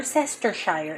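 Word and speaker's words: Worcestershire: put in some more sester Shire it's how you say it that's how it's spelled more sester Shire let's put in a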